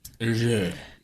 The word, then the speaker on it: Hergé: You gotta pretend you have like a mouthful of melted butter. Hergé.